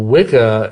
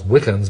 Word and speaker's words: Wicca: Well, Wicca, it's actually it's pronounced witcher, really.